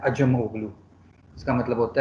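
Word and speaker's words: Acemoglu: और कौन होगा, अजमोगलू, आप लोग सब उसको आसिम ओगलू प्रोनाउंस करते हैं, लेकिन उसका असल नाम है अजमोगलू।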